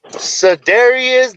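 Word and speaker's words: Cedarian: Yeah, so Dario, we gotta let Mikey pronounce his name correctly. Mikey, what's the name? Cedarius de Leon Lamb.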